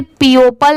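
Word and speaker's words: people: करते ये क्या है पीपल पी ई ओ पी एल ई पीपल अगर यहां पर वर्ड टू वर्ड प्रोनाउंस करें तो इसे पीपल नहीं पढ़ेंगे इसकी साउंड भी अलग आ रही है पीपल ठीक है एफ आर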